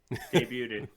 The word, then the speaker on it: debuted: it's just debut right it's actually debuted yeah you don't debuted debuted yeah i butchered that one yeah you don't have to add the extra ted in there so debuted debuted